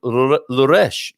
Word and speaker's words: Loures: Bon dia, correct pronunciation of the town Louresh, isn't it?